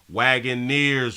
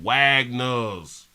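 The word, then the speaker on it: Wagoneer: like that right there wagone nears Willy that's how you pronounce it I was calling it Wagner's he said get your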